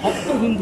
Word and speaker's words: হপ্ত হিন্দু: কথাটা আসে অর্থাৎ সপ্তসিন্ধু ওরা সকে হ উচ্চারণ কর হপ্ত হিন্দু অর্থাৎ সপ্তসিন্ধু তো এটা